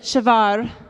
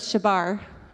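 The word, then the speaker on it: שבר: the Hebrew word and I think you pronounce it shavar it's like a fancy way at first I thought it was shebar and that's not how it goes okay so to break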